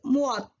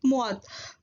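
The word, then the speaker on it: 무엇: Actually what in Korean is muat. What in Korean is muat. For simplification and simple use, we are pronouncing what in Korean is mo.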